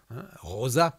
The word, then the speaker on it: Rosa: Lo pronuncio a la española, Rosa, como lo decimos nosotros.